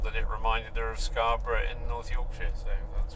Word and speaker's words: Scarborough: I already knew that Scarborough was named, the bluffs at Scarborough. Listen to that pronunciation. Proper. Scarborough.